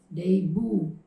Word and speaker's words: debut: yeah next word in the second column is day boo day boo it's not a debate a debut